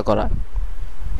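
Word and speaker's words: quand: এটির উচ্চারণ হবে প্লাস এর পরের শব্দটিতে আমরা এন এর প্রচলন দেখতে পারছি এবং এর কারণে আমাদেরকে এনটাকে নাকের সাহায্যে উচ্চারণ করতে হবে। আর শেষে দে সাইলেন্ট থাকবে।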